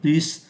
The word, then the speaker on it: plus: đấy chúng ta phải phát âm là plus plus giống như trên này Plus khu vườn của